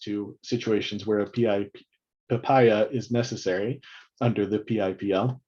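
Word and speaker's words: PIPIA: want to put into making sure we pronounce p-i-p-i-a as papaya goes much faster much more memorable and is just better in every way i think but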